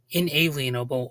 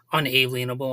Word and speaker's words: inalienable: certain rights that are considered inalienable or some people pronounce it unalienable although I think that's incorrect but with the Way